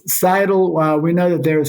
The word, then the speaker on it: Scytl: It's pronounced Scytl.